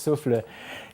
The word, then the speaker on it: SouphL: Je présente mon film qui s'appelle Souffle, qui est écrit tout croche, mais qu'on prononce Souffle, c'est ça, c'est un